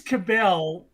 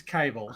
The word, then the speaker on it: Cabell: __ ] shot so james cabell james cable sorry you're not allowed to pronounce it cabell wrote a book wrote